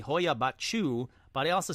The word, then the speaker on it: Hoia Baciu: Now, let's pause right there to say I think I nailed the pronunciations on this one. Not only did I say Hoia Baciu, but I also said Cluj-Napoca in Romania.